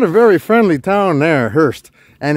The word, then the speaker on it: Hearst: Not a very friendly town there, Hearst. And it's spelt like the Hearst. Hearst. Like, those cars that carry coffins?